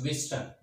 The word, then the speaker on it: Wheatstone: The complete name Wheatstone. It appears Wheatstone, but this T is silent. Remember well, this T is silent, so it's Wheatstone.